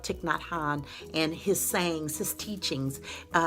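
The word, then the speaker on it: Thich Nhat Hanh: love touching that hon tick tock hon excuse me i mispronounced that sometimes you guys know I love tick not Han and his sayings his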